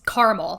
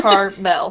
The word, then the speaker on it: Carmel: just go sorry and it is caramel there's no a i googled it no no it's just carmel carmel yes maybe it's carmel i don't know my